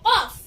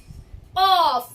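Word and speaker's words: قاف: Sifat, for example, if I say the letter Qaf, Qaf. So the letter Qaf is pronounced with a heavy sound. So I can say that the letter Qaf is a heavy letter.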